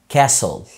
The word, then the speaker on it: castle: L E ساعتها ال T بتبقى silent في كلمات زي castle قلعة، castle.